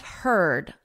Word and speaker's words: herd: Beware of herd, a dreadful word, that looks like beard and sounds like bird.